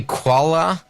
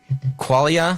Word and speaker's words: qualia: We went through, is it, how do you say qualia? Qualia?